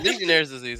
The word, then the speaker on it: Legionnaire's disease: No, Legionnaire's disease is the correct pronunciation.